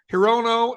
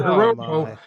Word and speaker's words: Hirono: of the Senators that's Senator Maisie hirono and Senator Brian Schatz the the other problem is that she referred to Senator hirono as he said Senator hiroko is the first female